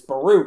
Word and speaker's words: Baruch: the point is you know nobody knows what baruch is right i've never heard that i thought it was pronounced or something weird and these kids like demetri that's not how you pronounce it it's baruch and i'm like and like you're from a